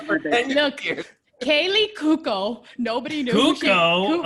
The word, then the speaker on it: Cuoco: Kaylee Kuko. Nobody knew. Cuoco? How do you say it? Cuoco.